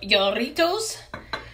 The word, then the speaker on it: Jarritos: So I guess the proper way to say it is Jarritos, but it sounds like we're saying Doritos.